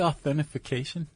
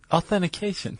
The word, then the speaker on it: authentication: Did you say authentification? A authentification. Authentication. Authentication. What I said. You added another syllable.